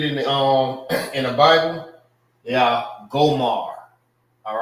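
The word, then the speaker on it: Gomer: The same way how you say it in Hebrew, it's Gomar. This is Gomar and this is Gomar.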